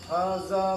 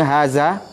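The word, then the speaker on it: هذا: Ya, cuma za-nya dilunakkan, Pak. Kalau jangan sampai jadi zai. Hadza miftahun. Ulangi. Hadza miftahun. Ya, za seketik lah itu, Pak ya. Kalau Pak tadi bacanya haza, itu salah, hurufnya zai jadi nyonya zal.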